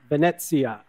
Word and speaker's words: Venezia: okay so help me practice one more time Venezia Bennett yeah Valencia yeah okay past so tell